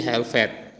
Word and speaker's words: helped: Have menjadi help atau tulisannya menjadi helped ya, bacanya help, climb, at.